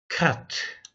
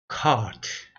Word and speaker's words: caught: cut. 발음이 cut입니까? catch. catch의 과거형인데요. 발음 봅시다. Caught.